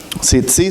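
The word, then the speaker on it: tzitzit: Tzitzi se escribe T-Z-I-T, 2 veces, tzitzi.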